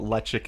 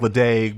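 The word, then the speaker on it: Ledaig: in the united states don't really know what electric is you don't even know most people don't know how to pronounce it it's uh you know spelled l-e-d-a-i-g which you think ladain but it's electric it's uh it's a peated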